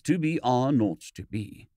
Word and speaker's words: 2BR02B: The 0 in the telephone number he pronounced naught. The number was 2BR02B.